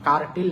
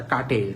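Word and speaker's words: curtail: দিছে কেটে দিছে তাহলে কাট্টেলের উচ্চারণটা এরকম কাট্টেল কার্টেল না উচ্চারণটা কাটেল কাটেল ওই যে ভাওয়েলের পরে আর এর উচ্চারণটা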